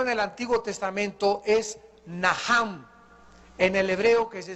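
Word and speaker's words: נחם: La primera palabra que se usó en el Antiguo Testamento es naham. En el hebreo que se escribe nach. La ch en el hebreo se pronuncia como J.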